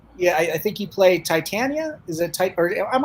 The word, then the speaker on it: Titania: uh directorial release and it's i do play titania you're right it's the name of the character